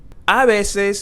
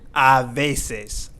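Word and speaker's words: a veces: the H is silent again we're going to pronounce this as oi and not hoi abeses means sometimes and as you can see here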